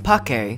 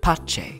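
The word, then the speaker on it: pace: in the modern era classical Latin which uses a hard c as in Pake and ecclesiastical which was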